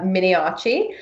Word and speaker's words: Miniaci: name which is Minnie achi Minnie oh she does not have an H despite the pronunciation mi ni a CI